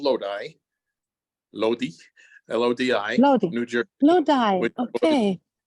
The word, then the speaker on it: Lodi: Salvatore è nato in una piccola cittadina del New Jersey che si chiama Lodi, proprio si scrive così, però in inglese si pronuncia Lodi, ed è fatto per il 99.9% da italiani.